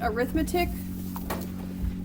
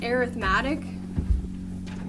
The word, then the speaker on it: arithmetic: In this case, it is pronounced arithmetic. I wrote it out on the top like air, like, you know, the air you breathe, and then met is where the emphasis is on.